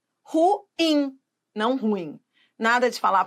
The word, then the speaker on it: ruim: a uma identificação equivocada as pessoas que falam ruim elas falam assim porque elas acham que a sílaba tônica no ru né mas é ruim ruim não ruim nada de